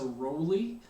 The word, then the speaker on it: Rowley: My name is Professor Rowley. That's spelled R-O-W-L-E-Y. And there are people that spell the name the same way as me but pronounce it as Rowley or Rowley. There are a lot of those folks around, so I'll respond to anything if you do happen to see me in person sometime this semester and